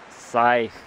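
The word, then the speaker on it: scythe: called a sky that sigh sight the sea is not pronounced so I take this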